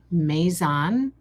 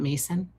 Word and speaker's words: maison: Pronounce it maison. Oh, not mason.